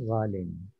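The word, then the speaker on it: غالٍ: Sebab tu just to inform that originally is ghaliyun, but you don't write ghaliyun. You write ghalin. You pronounce ghalin.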